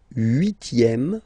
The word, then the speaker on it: huitième: Le huitième, remember H doesn't exist. Huitième, huitième, la huitième.